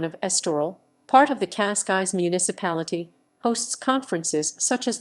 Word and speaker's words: Cascais: Cascais. Cascais Portuguese pronunciation, křejšťkajšʼ, is a municipality in the Lisbon District of Portugal, located on the Portuguese Riviera.